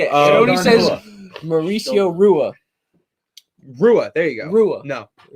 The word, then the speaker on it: Rua: you say it mauricio rua rua there you go no anytime you see mauricio hua it's shogun hua shogun hua there you